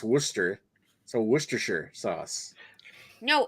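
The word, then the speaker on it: Worcester: about to say it and I'm like right Worchester Worchester is pronounced Worster so werer sauce no it's sorry Greg I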